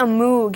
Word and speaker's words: Moog: They're invented by Robert Moog, that's why it's called a Moog. Actually, it's pronounced Moog.